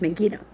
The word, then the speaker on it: Megiddo: him at Megiddo, Megiddo, or at least I think that's how you say it. Yeah, that's correct, Megiddo.